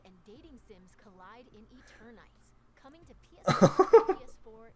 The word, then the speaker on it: Eternights: Action games and dating sims collide in Eternights, coming to PS5 and PS4 next year.